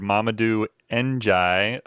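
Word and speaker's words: Mamadou N'Diaye: his staff this week we hired mamadou engie um that's that's how you pronounce his name for anybody uh who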